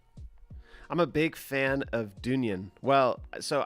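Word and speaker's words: Dungen: a big fan of dunyan well so i don't know if they pronounce it dun gin i've heard them pronounce it dungeon i've also heard people pronounce it dunyan here i'll type it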